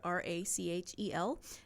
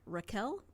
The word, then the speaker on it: Rachel: to Bach she says there's no CH sound in their language and so her name is actually pronounced Raquel I was like oh